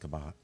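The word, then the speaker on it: Cabot: yes we were in uh it's it's actually pronounced kabat kabat kabat um we found it when we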